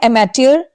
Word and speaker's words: amateur: Word है एमेट्योर। एमेट्योर AMATUER AMETEUR एमेट्योर। अमै की आ रही है साउंड, अमे की साउंड नहीं आ रही है, अमै की आ रही है।